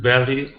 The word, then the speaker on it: barrier: Give me good R's here. Barrier. Barrier, Okay, instead of berry, okay, R sounds. Okay, even though it's a double R, okay, we don't say berry.